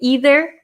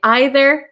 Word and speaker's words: either: and neither and um we can pronounce these two ways so my pronunciation as an American from Wisconsin I say either and neither but other people in America and I think in uh England if Simon's in here you can correct me um some people say either and neither okay so both are correct so whichever pronunciation you'd